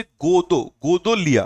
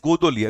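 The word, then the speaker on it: Godowlia: हिंदी में देख ले, हिंदी में क्या लिखा है, ये इज वाराणसी कैंट स्टेशन से गोदोलिया, okay, it इज गोदोलिया, गोदोलिया याद रखिएगा, गोदोलिया, ये डब्ल्यू साइलेंट है इसमें।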